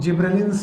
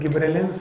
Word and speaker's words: gibberellins: जिब्रेलिक acid, जिनको commonly हम लोग जिब्रेलिन्स बोलते हैं। अब इनको प्रोनाउंसिएट करने के सबके अलग अलग तरीके हैं। कोई गिब्रेलिन्स बोलते हैं, कोई गब्बर सिंह बोलते हैं।